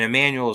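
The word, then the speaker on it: Jmmanuel: And Emmanuel is not spelled with an E, it's spelled with a silent J at the beginning.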